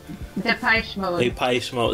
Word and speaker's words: Depeche Mode: How do you say that? Because you're from Montreal, so you got more eloquent how you pronounce it. Depeche Mode. So that's probably the correct way to say it.